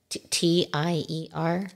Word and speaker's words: tier: T-I-E-R. Okay, tier just because it doesn't sound like T-E-A-R. No, tier. Tier. No, you got to be a tier. It's not for crying.